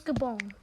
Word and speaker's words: Gabon: I'm not 100% sure how you pronounce Gabon. It's Gabon.